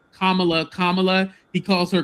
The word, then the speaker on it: Kamala: it was going because he never called Kamla Kamala. He calls her Camala.